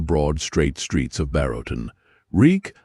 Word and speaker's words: Reek: "Reek, I'm Reek. It rhymes with reek."